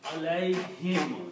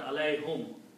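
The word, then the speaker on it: عليهم: because of this yah this sound is also pronounced as him Al him even though separately the word is whom but because this yah here for T this dma is also pronounced as so you pronounce Al him not Al whom okay separately it is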